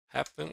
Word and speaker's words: happen: is in the Happen. first. Happen as well, not happen in the second syllable. That's correct. Happen is stressed on the first syllable.